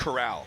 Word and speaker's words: Corral: then Matt Corral or Coral. I don't remember how to I think pronounce. it's Corral. Corral. I remember okay. like it's like Golden Corral.